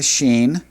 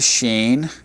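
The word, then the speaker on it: שין: The sheen would have a sh or an s depending on where the dot would go.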